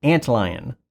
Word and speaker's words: AntLion: the mod mic uni from antelion audio at least that's how i think it's pronounced has a little ant on